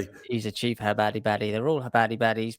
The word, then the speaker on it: Chabad: Habad. Oh, Kabad. Havad spelled with a C. Chabad.